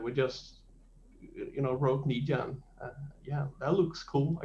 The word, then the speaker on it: Nija: is it is it a silent j or or more of a hard one so is it nairo ornisha uh i think i pronounced it nija nija right right right right